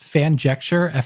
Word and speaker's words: Fanjecture: Yeah, just I have a YouTube channel called Fanjecture, Fanjecture, just spelled like it sound.